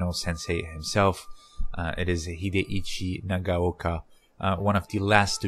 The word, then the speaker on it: Hideichi Nagaoka: for him on google you might find shuichi nagaoka or hidekazu but that's a mispronunciation his name is hideichi nagaoka so uh in the